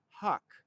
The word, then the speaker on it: HUC: Just as every house has an address, every watershed has an address called a hydrologic unit code, or HUC, we sometimes pronounce it huck.